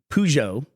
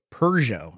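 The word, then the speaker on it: Peugeot: ever was interested in was pujo or as they say here in the UK perso I don't know why they say perso um they put out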